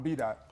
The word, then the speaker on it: Daht: The dot is D-A-H-T. It's pronounced D-O-T, but it's D-A-H-T. It's phonetically accurate. The A-H is the ah sound, so it's B-Daht.